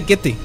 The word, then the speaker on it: Goethe: Se pronuncia Goethe, de hecho. Goethe.